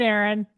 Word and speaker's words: Aaron: you say it the first time I said a a Ron because it's pronounced Aaron you're done messed up Hey Ron